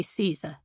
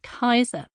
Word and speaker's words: Caesar: As we get further into the book, though, I'll also sometimes use standard English and Italian pronunciations of Latin in contexts where those are more familiar, so it'll be Caesar, for example, rather than the ancient Kaiser.